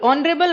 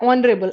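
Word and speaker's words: honourable: ऑनरेबल, ऑनरेबल, ऑनरेबल में ओ आ रहा है, ऑनरेबल एच इज साइलेंट, और ओ तो ओ आई में आता है, सो दिस बिकम्स एन।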